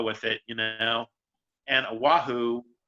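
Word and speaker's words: Oʻahu: or just go with it you know and oahu oh ahu um and kawhi god knows if i'm pronouncing that right you know you've got like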